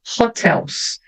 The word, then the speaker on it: hotels: Então, hotels. Em português, o H é mudo, né? Em inglês, às vezes ele é mudo, geralmente tem um som TR. Hotels.